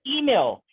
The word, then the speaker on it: Emil: It's pronounced Emil. His name was Emil.